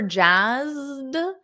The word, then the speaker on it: jazzed: exactly great additions so for Jaz notice that soft D Jaz with a z that buzzing sound Z Jaz he's psyched psyched with